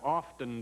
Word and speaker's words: often: this morning as I often do ask you don't pronounce the T in that word do you it's often often you just take